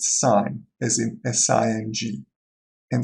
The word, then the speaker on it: sin: is shortened to SI n which is to pronounced sign as in si ng in sine of theta